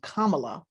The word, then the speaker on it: Kamala: who went out of their way not to pronounce her name kamala which was just as easy you can look